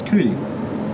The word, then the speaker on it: Cudi: That was Cudi. Like Kid Cudi. You're joking right now. I'm not joking. I thought it was like I got cootie, you know, like cooties.